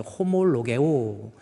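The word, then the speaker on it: ὁμολογέω: 오모라고 읽을 수 있는데 엑센트가 강기식과 약기식이 있는데 강기식으로 엑센트가 거꾸로 되면요. 이것이 H 발음이 나요. 그래서 호몰로게오 로그 로그는 말한다라는 거거든요.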